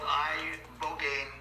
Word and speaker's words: ibogaine: In 2024 study from Stanford University, 30 special operation veterans with traumatic brain injuries underwent, it's called ibogaine treatment. Ibogaine. Remember the name. Is that pronounced relatively properly what you said?